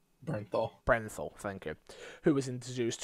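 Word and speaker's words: Bernthal: Brenthal, thank you.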